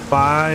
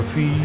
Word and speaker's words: Fi: Fi or Fee, depending on your pronunciation.